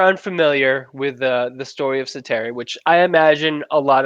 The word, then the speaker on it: Säteri: He's got the double dots over the A in his last name. Makes it an E sound, which is fun.